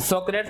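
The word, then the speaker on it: Socrates: मान लेते हैं कि सोक्रेट्स के बारे में कुछ जो स्टेटमेंट दिए गए पहले उनको लिख लें।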